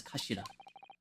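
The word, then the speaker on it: 頭: It's written as head in Japanese, but it's pronounced as kashira.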